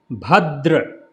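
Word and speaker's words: भद्र: Then here Bhadra. Bha. Bha. Bha. So put the lips together when you pronouncing. Keep the mouth open and expel the air out. That is the sound will come. Bha. Bha. Bhadra. So again, not the tongue between the teeth.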